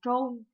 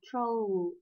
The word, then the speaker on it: troll: bá cái tư tưởng là cái từ này đọc là trôn, nhưng thực chất nó đọc là troll.